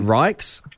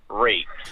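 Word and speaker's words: Ryks: My last name is spelled R-Y-K-S. Right, is that Rikes? Yes, but every single teacher that I've ever had from kindergarten through primary school has pronounced it Reeks.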